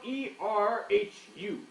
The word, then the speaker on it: erhu: It is spelled E-R-H-U. An eru. Yes, an erhu.